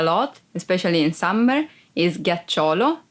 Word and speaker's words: ghiaccio: Ghiaccio, ice. Ghiaccio, ice. Be careful because if you don't pronounce G as a hard sound like G, it would be ghiaccio, that it's a verb and means lie down.